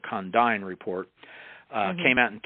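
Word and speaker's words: Condign: The Condine report that's spelled CO N DIGN. It's not Condan report. Condine report uh came out in 2006.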